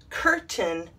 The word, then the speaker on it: curtain: when we're practicing phonics but in these words we take the a i and we shorten it into a short i sound why i don't know so here is how they should be pronounced mountain certain curtain and fountain yeah all of them have a short i sound and not a long a sound and c right here